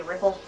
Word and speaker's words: Repel: It's spelled Repel, but we say Ripple.